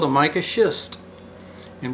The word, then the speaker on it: schist: is called a mica schist and be careful how you do pronounce the second word s-c-h-i-s-t it's a german word and it's been metamorphosed